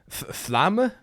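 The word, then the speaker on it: Flamme: Flamma? I was told that it should be like you pronounce the E at the end of Flam.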